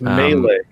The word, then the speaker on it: melee: It's Melee. That's how you pronounce that.